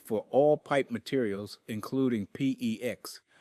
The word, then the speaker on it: PEX: all pipe materials, including PEX, which rhymes with flex, and CPVC, pronounced CPVC.